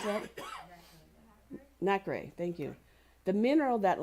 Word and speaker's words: nacre: coating it with multiple layers of, can you pronounce that? Nacre, thank you.